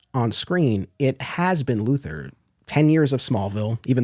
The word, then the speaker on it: Luthor: series that's interesting because you do have Otis very pointedly saying Mr luor but I I always took that it's so cartoony it's so over the top it's in my mind meant to be that mispronunciation I mean Jee Hackman